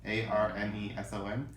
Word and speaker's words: Arneson: I think I said David Anderson, and it's actually Dave Arneson, Arneson.